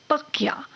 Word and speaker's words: तकिया: और तकिया जो है वो मूल रूप से अरबी फारसी का शब्द है, जिसका फारसी उच्चारण होता है तकिया।